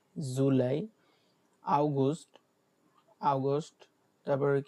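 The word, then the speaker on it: August: হ্যাঁ, যেটাকে অগাস্ট বলি আমরা, ইংরেজিতে যেটা অগাস্ট বলি ওটা বলে আগস্ট, আগস্ট।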